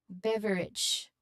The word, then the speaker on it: beverage: Pronunciation wise, pronunciation wise, um the emphasis should be on the first syllable, bev, and the ending a should sound like it. Similar to the end of the word village or bridge.